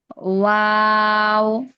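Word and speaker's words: و: ওয়াও। ওয়াও ঠোঁট গোল করে ছড়িয়ে আবার গোল করব, মানে এইভাবে উচ্চারণটা হবে। ওয়াও।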